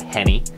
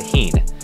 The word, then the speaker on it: Henne: and I will say I have been pronouncing his name wrong, so I apologize, Chad Henne. I've been calling you Chad Heen, because frankly, I don't really care about you.